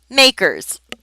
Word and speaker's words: MACRS: and we pronounce it makers and they even put the little quote there so you understand the acronym is MACRS and we say makers to compute makers depreciation